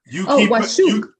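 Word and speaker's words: واشوك: Washuk. There you go. You pronounce it as if it's just a W. The way you pronounce it is like it's WASUK, not WASH. Washuk.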